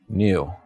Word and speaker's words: knew: say fur interesting so how do you pronounce k k-n-e-w k-n-e-w new yeah i think i say new as well but i i've heard some people kind of they recognize the k sound and make it more of like a new new sort of sound okay i just say new new like i knew that's how i pronounce it yeah yeah but like